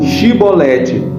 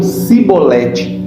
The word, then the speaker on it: chibolete: estratégia qual eram Olha você vai dizer assim chibolete aí a menina diz que eles não podiam eles não podiam dizer é mas eu cebolete ou seja deixa uma dificuldade na pronúncia daquela expressão que era algo característico do Povo de gilead então aqui no ocidente